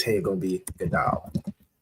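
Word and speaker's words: גדול: Okay, we have Gadawal. I believe this would be should be pronounced as Gadal.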